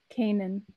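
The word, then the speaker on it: Canaan: a famine in uh Canon did I pronounce that right Lindsay Kanan Kanan thank you so in this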